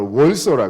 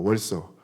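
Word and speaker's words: Warsaw: 원래는 이제워 이렇게 발음하잖아요 그래서 영어식으로는 바르샤바라 월서라 그런대요 월서 한국 사람들이 바르샤바라고 부르니까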